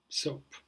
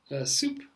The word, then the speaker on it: soap: The third word, that students often mispronounce is soap. Soap. Now, what is a soap? SOAP. We use it for washing our hands, for having a shower, or other purposes. And the word that people often confuse it with is soup, which is spelled like S-O-U-P. And so the first one is soap, and the second one is soup. So you have to be careful with that.